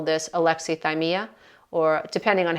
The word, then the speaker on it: alexithymia: our emotions, and some people will call this alexithymia, or depending on how you pronounce it, alexithymia, alexithymia. Some people pronounce it differently, but I pronounce it alexithymia.